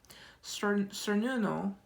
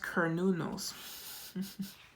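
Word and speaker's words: Cernunnos: Um cernuno life force express your driving passion. sensual and sexual powers are increased. Oh, sorry. It pronounced kernunos.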